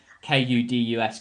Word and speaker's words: Kudus: muhammad kadus um i think that's how you pronounce his name anyway k-u-d-u-s kudus he seems like a very exciting prospect